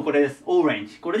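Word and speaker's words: orange: ねで次がオレンジですオレンジでこれはアクセントが最初に来るのちょっと気をつけてくださいでまオレンジって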